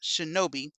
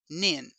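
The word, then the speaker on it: 忍: shurikens as we thought by reading the kanji with the nin shuriken this kanji is indeed pronounced Shinobi but for what whatever reason toy decid it would be pronounced nin there are two sorts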